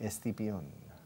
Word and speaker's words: Escipión: Escipión.